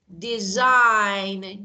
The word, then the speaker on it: design: end of a word so if you see a word like sign GN like design GN G is not pronounced so again my beautiful